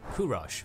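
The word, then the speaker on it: Kūruš: was born this boy known as kurosh by old Persian pronunciation but to us as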